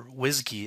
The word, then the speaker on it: WSGI: the wsgi.py file or whiskey as it's pronounced in the python world is just a boiler